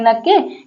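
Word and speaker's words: knock: रहा है तो एन के पहले आया है ना के इसीलिए के साइलेंट है देखिए नाइफ नी नी मतलब घुटना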